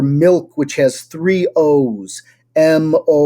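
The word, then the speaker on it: молоко: which has three O's, Moloko, it's molako. So none of those O's is pronounced the same.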